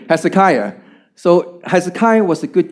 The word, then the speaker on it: Hezekiah: Kia is that right that's a kiyah thank you Hezekiah see pronunciation okay Hezekiah so Hezekiah was a